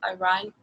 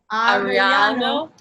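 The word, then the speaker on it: Arellano: So first off, Gustavo Aran, I can't speak Spanish, sorry. Ariano.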